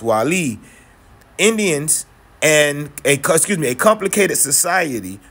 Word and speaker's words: Guale: One of those tribes were the Guale, pronounced Wali, Indians, and a complicated society that populated lands from the coast of Georgia.